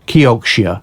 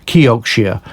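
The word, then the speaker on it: Kioxia: toshiba memory company uh became a company called kyokushia is how you pronounce it kyokushia and uh this this company really was brought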